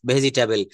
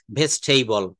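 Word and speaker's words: vegetable: মত করে Asian Indian ইংলিশে বলে ফেলি ভেজিটেবেল কিন্তু আপনি আমেরিকাতে যাবেন আপনি ইউকেতে যাবেন অস্ট্রেলিয়াতে যাবেন ভেজিটেবল বললে কেউই চিনবে না কেউই বুঝতে পারবে না সেখানে আপনাকে আইপি মেইনটেইন করে বলতে হবে ভেস্টেইবল ভেস্টেইবল এই যে উচ্চারণের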